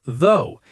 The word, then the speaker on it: though: Like the word though, it looks strange, but it's pronounced though. Exactly.